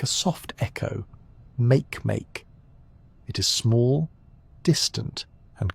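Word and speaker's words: Makemake: The name is pronounced Make, a gentle rhythm that fits the world's serene nature.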